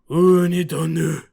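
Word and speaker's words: Unidone: Unidonu, which is a play on unidon. The word for sea urchin bowl is unidonu. My guess is they wrote it in English as unidon because they assumed the E would get English speakers to correctly pronounce it like unidonu.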